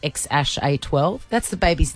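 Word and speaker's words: X Æ A-12: And it had that funny name, X-A-E-A-G-L-A, pronounced X-A-12.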